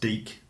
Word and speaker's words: Deke: Although I think it's pronounced Deke Slayton.